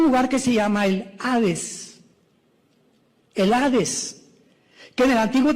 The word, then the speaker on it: Hades: la palabra seol con hades, con h, que muchos dicen jades. Se puede pronunciar así porque es en el griego.